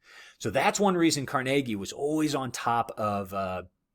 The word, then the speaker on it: Carnegie: I should mention, I keep saying Carnegie. All right, that's actually the appropriate way to say it. Either one is technically, correct. But at the time, he would have pronounced it Carnegie. But I know Carnegie Hall, named after him. I know that's turned into kind of the modern, kind of the popular pronunciation. Either one's fine, but Carnegie is how contemporaries would have called him.